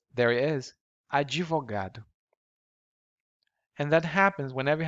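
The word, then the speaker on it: advogado: it's not there but in portuguese we have to include the e an e sound to make it easier for us to pronounce and it's called the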